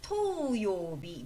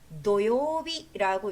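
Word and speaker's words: 土曜日: 그래서 여러분들 토요일이라는 글자를 볼 때 잘못 외우시는 분들이 토요비 뭐 이런 식으로 잘못 외우시더라고요. 아니면 토요비라든가 토 아니고 노입니다. 단음이고요. 노요 노요비라고 있습니다.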